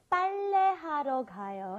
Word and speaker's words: 빨래하러 가요: Okay, today we used 빨래하러 가요, and I think the double B or the P is really hard for foreigners to say because this isn't in our vocabulary.